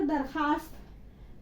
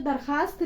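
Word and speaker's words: درخواست: देखो अभी मैंने आपको बताया ना, तो दरखास्त में वाव जो है साइलेंट है, लिखते हैं लेकिन पढ़ते नहीं है।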